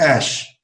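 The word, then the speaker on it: Æ: it's just a letter X and E is pronounced ash so it's X - Punk angel 12 yeah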